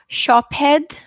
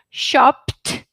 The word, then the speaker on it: shopped: ending shouldn't be id your ending should be not shophead picked wished granted i can't even pronounce it how you do guys sometimes i'm not being smart hours now okay so this is shopped picked wished crunched okay once again shopped picked wished crunched all voiceless sounds should be pronounced like do you get it